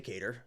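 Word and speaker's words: Qatar: I was gonna say katar and I don't give a well now I'm forgetting the right way to say Kar is the is the what you're supposed to say the country um yeah I uh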